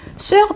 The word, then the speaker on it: sœur: 자, sœur 발음도 주의하세요. sœur. 좀 어려운데요. 이 발음도 정리해 두시기 바랍니다.